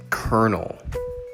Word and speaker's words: colonel: in the army kernel this one is weird because it doesn't have an r in the spelling it looks like colonel but really we say it kernel number two is comfortable